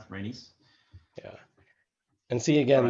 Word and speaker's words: Rhaenys: Is that how you pronounce it? Rhaenys?